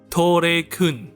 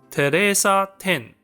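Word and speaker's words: テレサ・テン: Now, I want you to take a wild guess as to how her name is pronounced in Japan. Tou Re Kun, right? On'yomi? It's "Teresa Ten".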